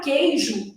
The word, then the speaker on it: queijo: Então, na palavra queijo, eu tenho 6 letras e 5 fonemas. Esse U da palavra queijo, ele está formando um dígrafo.